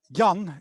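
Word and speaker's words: Jan: very common dutch name young g-a-n young is very common which is john in english a very common dutch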